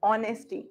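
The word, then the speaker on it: honesty: ऑनेस्टी है क्या? H silent. हॉनेस्ट नहीं बोलते, क्या बोलते हैं? ऑनेस्टी.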